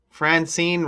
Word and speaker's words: Francine: Francine rhymes with vaccine also, huh?